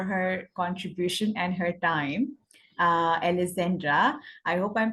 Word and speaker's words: Alessandra: So today we have our esteemed guest, whom I'm highly thankful for her contribution and her time, Alessandra. I hope I'm pronouncing your name correct, Alessandra. Exactly. Alessandra, but it's okay, Alessandra.